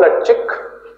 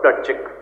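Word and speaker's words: Plutchik: inverted comma close Robert पल चिक Robert R ओ बी ई आर T Robert प्लट चिक पी एल यू टी सी एच आई के a professor of medicine इसमें P silent होगा a professor of medicine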